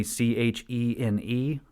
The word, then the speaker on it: Chene: Coming Home, Anthony Shane Productions, and I'm sure I'm saying his last name wrong. It's Anthony Chene Productions.